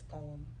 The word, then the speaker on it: poem: How many syllables does it have? One. The word poem has one syllable. Way. Pine. But in natural English when we do speak English, it's poem.